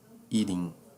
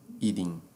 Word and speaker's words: eating: Eating. Tá? Transforma o T num D. Tá? Como se fosse o fonema da letra D. Tá? D de dia. Ok? Então fica assim. Eating.